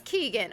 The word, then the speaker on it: Keegan: It is Keegan. Okay, I'm saying that fine.